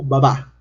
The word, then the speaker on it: Abba: Y algunos especialistas dicen que la palabra Abba actualmente en el arameo se pronuncia como Babá, o sea que ha tenido obviamente una evolución.